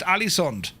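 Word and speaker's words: Ålesund: I think the first word of the first stop is pronounced Alesund.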